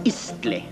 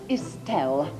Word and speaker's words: istle: It isn't Issel, it's Istle. Sorry, chaps, it's Istel.